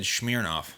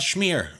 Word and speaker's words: Smirnoff: You just said Smirnoff. That's how you say it. It's Smirnoff. It's not schmear. Schmear is you put on cream cheese.